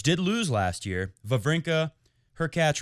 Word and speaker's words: Hurkacz: Fourth round, where Djokovic did lose last year, Wawrinka, Hurkacz rhymes with Latch, and big Kevin Anderson.